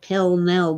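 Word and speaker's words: Pall Mall: is still smoking P for some reason we pronounce it pel Mel but it's spelled Paul Maul and she's in her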